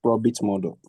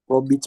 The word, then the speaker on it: Probit: We use let's say we use profit model. Profit model. Probit model. Probit. Please can you spell it for me?